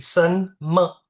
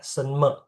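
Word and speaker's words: 什么: Oke, sen me. Bukan me ya, sen me. Sen me, ming zi. 什么 Ming zi. 名字？Oke, yes. 谢谢 Indah. 名字？Perhatiin nadanya ya. Ni, nada tiga. Ciao, nada empat. Sen, nada dua. Me, nggak ada nada.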